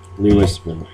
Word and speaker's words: Louisville: Louisville, yes. Okay, got it. Spelt like it. No, sounds like it's spelt.